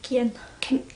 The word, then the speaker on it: Kian: the kit kieran okay how do you say his name kian i'm saying kieran but it's not it's shorter yeah okay and he's